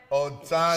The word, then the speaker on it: Otano: Otano.